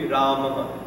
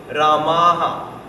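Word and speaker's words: Rāmaḥ: Although it's written Rama with a visarga. The visarga kind of doubles the last vowel. Right? So if it ends with a it will be Ramaha.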